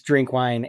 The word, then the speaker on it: Drinkwine: name, but I didn't ask you how to pronounce it right off the bat. Yeah, it is. It's Drinkwine.